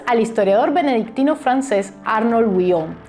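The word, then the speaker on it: Wion: historiador benedictino francés Arnold Willon. Y mucho cuidadito que se escribe w i o n y se le w, no huevón.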